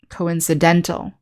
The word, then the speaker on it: coincidental: the long i coincide in the adjective form we put the stress on the second to last syllable coincidental and the adverb form we have the stress on the same syllable coincidentally so again it's